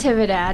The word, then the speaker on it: Natividad: Natividad. Natividad. Yep. See, I would have said it right. I just say Navidad with an extra I and a T.